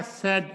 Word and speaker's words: said: ये जो said है, यहां पर भी ये वाला said, SAID, said, इसका भी उच्चारण ये है, देखिए कितना गजब है, said, इतना ही है, said, he said me a story, he said me a story।